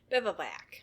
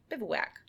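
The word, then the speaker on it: bivouac: Anyways, totally irrelevant, but I had to learn how to say bivoac. I'd never seen that word before. It's spelled B I V O U A C. Bivwak. Yeah, bivwack. From their spot the night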